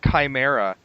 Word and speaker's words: chimera: I mean same thing shim oh yeah yeah wasn't until much later I I actually it wasn't until Mission Impossible 2 that I found out that Chimera is the correct pronunciation and I was like